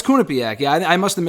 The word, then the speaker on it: Quinnipiac: graham i was i did not know the pronunciation i was saying quinnipiac but you you are uh uh you said you're uh you went there right i'm alone yeah yeah no it's kunipiak yeah i must have mispronounced it myself i'm